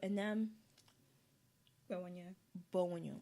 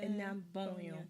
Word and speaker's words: Enam Gbewonyo: So Enam Gbewonyo. Yes. I think it's a W that throws me in the name. Because I'm used to silent letters, and I'm thinking, is that silent? Is that not?